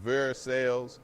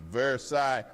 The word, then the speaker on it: Versailles: Versailles ain't Versailles, it's Versailles. Like you're tired of everyone's nonsense.